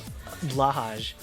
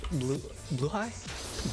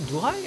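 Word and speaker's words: Blåhaj: So then I saw an actual video, and yeah, it's apparently pronounced Blue-High, I think.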